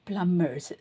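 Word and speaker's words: plumbers: வந்து ஆர்ல முடியறது பாருங்க பிளம்மர்ஸ் சோ அதுல வந்து பி வந்து ப்ரொனௌன்ஸ் பண்ணக்கூடாது பிளம்பர்ஸ் அப்படித்தான் நான் சொல்றேன்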